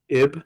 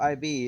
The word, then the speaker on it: Ib: uh you guys played IB I think it's is it Eve or IB I believe it's pronounced IB wait is it iron is it is it it's just IB yeah I baby I